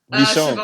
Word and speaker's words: Michonne: Cut the bottom of their jaws off, like Shimon. What's her name? I said Shimon. Shimon. Is that how you say it? Michonne.